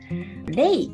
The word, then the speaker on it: 0rei: レイと読みますね。